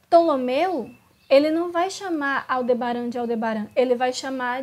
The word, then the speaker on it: Aldebaran: direito, então eu vou novamente deixar o Google pronunciar para vocês. É assim que fala. Aldebaran.